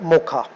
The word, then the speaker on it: Mocha: है मौका ठीक है विच इस सपोज्ड तू बी प्रोनाउंस है मौका डी साइक्लोन हज बिन